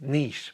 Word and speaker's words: niche: Yes, it's pronounced niche.